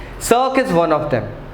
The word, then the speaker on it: cirque: अब इसका प्रोनाउंसिएशन बड़ा अजीब है दोस्तों, please so remember it's actually pronounced as सर्क। लोग इसे कर्क एंड ऑल बोलेंगे बट इट्स सर्क।